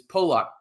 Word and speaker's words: Pollock: Again, it is Pollock, P-O-E, lock your door. That's how you pronounce it. Bryce Pollock, Mississippi State corner.